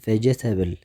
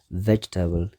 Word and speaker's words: vegetable: ተሪእና vegetable ብዙሓት ሰባት vegetable ይብልዎ እዮም። እቲ ቁኑዕ pronunciation ናቱ ግን vegetable ሰለስተ ሲለብል ኣለዎ። vegetable እቲ ስትረስ ኣብቲ ቀዳማይ ሲለብል ማለት እዩ vegetable። ካልኣይ cucumber